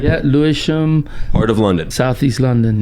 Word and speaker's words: Lewisham: Yeah, Lewisham.